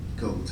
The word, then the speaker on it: Geodes: We have resolved that the Board of Education approve the textbook adoption of, is that geodes or goads? How do you say that? Does anybody know? Geodes, okay.